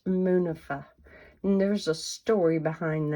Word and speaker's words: Munifa: You can email me at, and it's pronounced Munifa.